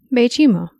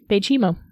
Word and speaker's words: Baychimo: when she was renamed as bimo can you spell that b a y c h i m o okay bimo bimo yeah I was making it way too complicated